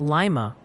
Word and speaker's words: Lima: And hey, the pronunciation Posi is on duty. They're saying it's Lima for Lima, Ohio, Lebanon for Lebanon, and that Davis County, where Owensboro is, is pronounced like Davis.